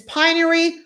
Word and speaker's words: Pinery: call me v says it's pinery provincial in ontario which province piney provincial okay all right